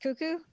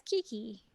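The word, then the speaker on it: Keke: uh I guess I never realized that that C's name is pronounced cuckoo yeah I guess until now I had not paid attention to how Liu pronounces it yeah so yeah same because like brain said hey that's Kiki yeah like the monkey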